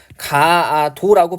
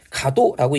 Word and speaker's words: 가도: 그러면 아가 두 개 다 살아있다면 우리가 가아도라고 발음해야 될 텐데 가도라고 얘기를 하고 있으니까 아 두 개 중에 하나가 빠진 거예요.